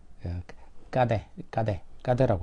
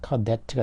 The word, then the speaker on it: cadet: 그래서 프랑스어에서는 이제 발음은 이제 까데라고 하죠. 까데가 되겠고 영어식으로 하게 되니까 이제 cadet가 됐고 이게 또 이제 스코틀랜드식으로 하면은 밑에 있는 캐디가 된 거예요.